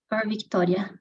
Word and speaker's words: Victoria: see you soon okay Victoria is Victoria or Victoria it's Victoria we don't you don't pronounce the c Victoria thank you and